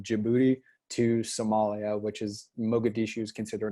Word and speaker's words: Mogadishu: So knowing that about Mogadishu, that's how you say it, that Mhm.